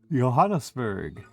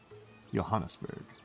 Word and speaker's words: Johannesburg: Johannesburg, which I never get pron used to pronouncing it Joberg. It always it's always it's always a soft J to me. The yo yoberg Johannesburg.